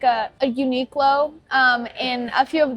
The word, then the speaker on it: Uniqlo: Bags from Uniqlo? Yeah. I got a bag, yeah. Yeah, yeah. How do you say it? Uniqlo?